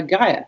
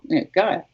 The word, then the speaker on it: Gaia: When, just a little anecdote, when Angelo Gaja had his daughter, he called her Gaja, spelt with an I instead of a J, but still, Gaja.